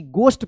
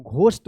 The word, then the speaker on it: ghost: Suddenly, SUDDENLY, suddenly, a small ghost, GHOST, गोस्ट पढ़ेंगे इसको, घोस्ट मत पढ़िएगा, गोस्ट, गोस्ट, गोस्ट मतलब होता है भूत, घोस्ट इसको ऐसे पढ़ते हैं ना, घोस्ट, इसका गोस्ट उच्चारण होगा, गोस्ट, ठीक है ना।